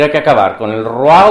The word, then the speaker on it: roi: como saben ustedes eh lo que en francés se escribe oi es un diptongo que ahora decimos waa pero lo decimos desde después de la Revolución Francesa porque eh en el